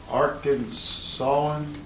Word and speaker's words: Arkansas: Canada go over the Arkansas he's on his own in that resolution of 1881 they said that they worship pronounce Arkansas with a final s silent and of course the